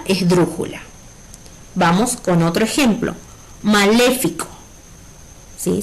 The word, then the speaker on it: maléfico: Si la separamos en sílabas sería ma-le-fi-co. Maléfico. ¿Sí? Nuestra sílaba tónica es le. Si contamos desde la derecha, co sería la última sílaba, fi la penúltima sílaba y le la antepenúltima sílaba. Y además, como es la sílaba acentuada o la sílaba tónica, significa que maléfico es una palabra esdrújula.